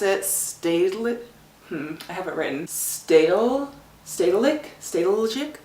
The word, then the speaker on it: Stedelijk: Stedelijk? It's, you probably don't pronounce the J, but basically it's like their modern art museum.